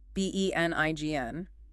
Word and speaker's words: benign: B E N I G N that G is silent, right?